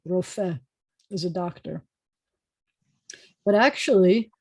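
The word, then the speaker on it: רופא: in training, medical doctors, we have resh with an O vowel, so that's ro. And then we have the f with an e, and then the silent hey, rofeh is a doctor.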